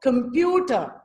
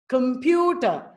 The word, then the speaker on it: computer: not pronounced clearly so computer computer only the stress the syllable pew is pronounced clearly and it uses larger